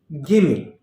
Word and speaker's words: gimme: today's list give me now follow the pronunciation gimme gimme now this is actually the contracted form of two words give me give plus me